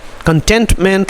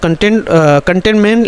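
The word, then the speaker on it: cantonment: 81,000 acres of spare कंटेनमेंट land. ठीक है, अच्छा मैं दोबारा पढ़ता हूँ दोस्तों। कंटेनमेंट लैंड बोलते हैं दोस्तों, यानी इसका प्रोनाउंसिएशन है कैंटोनमेंट लैंड, है ना, यानी सोने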